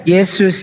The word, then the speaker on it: Yesus: disebarkan Kristen oleh Belanda asal Belanda huruf j dibacanya y jadi Yesus dibacanya Yesus Ini sejarahnya nih ya udah tampak kan Mana yang lebih dekat kalau orang bilang Yesus tidak sama dengan Isal